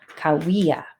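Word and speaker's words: Cahuilla: I have to keep going back and looking at how to pronounce that. It's the Kauia.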